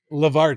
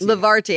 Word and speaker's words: Levarti: How do you pronounce the name of your? Levarti. Levarti.